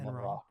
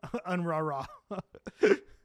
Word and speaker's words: UNRWA: Not Enron. Oh. UNRWA.